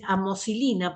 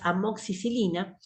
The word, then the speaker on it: amoxicilina: la gente consume normalmente le van a decir amoxilina porque no saben pronunciar bien la droga la droga es amoxicilina es una de las